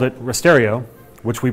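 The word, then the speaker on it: rasterio: then wrote it that night and called it risterio which we pronounced that way because we're contrary and all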